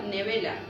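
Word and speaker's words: נְבֵלָה: Y sus cadáveres significa nevela, acento en la A, cadáver, cuerpo muerto.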